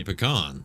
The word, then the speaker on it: pecan: made con or pecan, I say pecan because that's the correct way to say it.